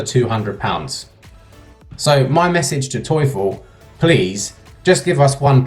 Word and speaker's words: Teufel: like that but really it's pronounced toyful in German toyful and you my friend